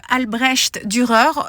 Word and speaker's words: Albrecht Dürer: Je travaille avec les crayons aquarellables Albrecht Dürer. On m'a fait remarquer que la prononciation, c'était bien le son che et pas le son er.